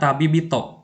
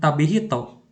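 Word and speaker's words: 旅人: tapi itu dan ada tabibito Nah di sini bunyinya berasimilasi ya bukan tabi Hito Bukan tapi itu atau tabinin bukan tapi jadinya tabibit jadi emang ada beberapa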